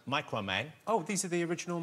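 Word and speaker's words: Microman: Okay, and these come from a Mikuro Man, which we would pronounce Micro Man.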